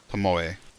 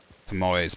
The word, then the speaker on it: Tomoe: Pomoe. Tomoe's body. There we go. I think I said it better. Tomoe's body. Tomoe's body. Is Tomoe. Tomoe. Yeah, they'd be standing over Tomoe's body instead.